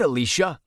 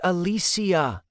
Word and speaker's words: Alicia: "Have you met Alicia?" "It's pronounced Alisia," she said.